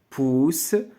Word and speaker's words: poussent: Dans l'eau des lacs et des rivières poussent, donc هذا le verbe pousser, ينمو نما pousser le verbe pousser نما. دونك هاد ENT ديال لي فيرب ما كنطقوهاش. إلا كانت الكلمة فيرب فهاد ENT ما كنطقوهاش.